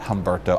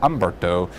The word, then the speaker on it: Humberto: Obviously Humberto the H is silent so it's not Hberto. Ombberto uh kind of like Fernand Fernand is how we pronounce that name.